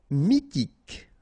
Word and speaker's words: mythique: Mythique. Remember, Q-U at the end, K, okay? And then Y is pronounced like I. Mi, H is not pronounced. T, K. Mythique.